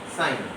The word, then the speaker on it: sin: And they are number 1, sine, but we are actually write this sin, but pronounce it as sine.